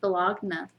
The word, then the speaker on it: Bologna: university of bologna um actually it's pronounced bellogna my bologna has a first